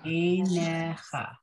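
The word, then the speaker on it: עיניך: So this is one of those words with that silent yud. So the first word, the first yud at the beginning of enecha, so in the first syllable, that yud makes a, right? That a sound. Then the second syllable, ne, that yud just doesn't do anything for us. It's still just ne. And then it ends with cha.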